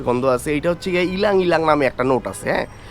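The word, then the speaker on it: ylang-ylang: আমি তো পারতাছিলাম না আমি তো ল্যাং ল্যাং ফাস্টে পড়তাছিলাম পরে দেখলাম না এটা ল্যাং ল্যাং না এটা ইলাং ইলাং তো শুরুতে সিট্রাসি এরপরে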